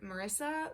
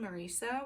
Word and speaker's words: Marisa: It follows this girl named, I think in the audiobook they call her Marissa, but it's spelled Marisa, which I know because my mom's name is Marisa, and she hates when people call her Marissa, so I'm gonna call her Marisa.